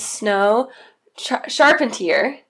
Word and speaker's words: Snow Charpentier: Her name is Snow Charpentier. Yeah? Did I say it right this time? Correct, yeah. Yes.